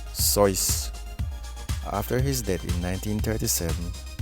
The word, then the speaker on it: Seuss: barber bled the patient dr. Seuss pronounced his name sois after his death in